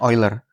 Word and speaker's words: Euler: Karena Euler pun bacanya Oiler ya, karena dia orang Swis jadi pelafalan Jerman bacanya Oiler.